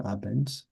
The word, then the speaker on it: Abend: So the D rather, is pronounced as a T. So guten Abend, you know. So the spelling is D, but the pronunciation is T, you know.